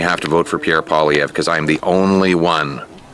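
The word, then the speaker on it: Poilievre: loved it love it Pierre PV that's apparently how he pronounces his name uh because he he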